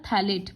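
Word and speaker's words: phthalate: इसका प्रोनाउंस होता है थैलेट, पीएच साइलेंट है।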